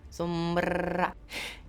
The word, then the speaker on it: Sombra: But for those who are just getting into Sombra, and yes, you do have to roll your R. If you don't, if you can't, then you're not going to be a pro Sombra. Sombra.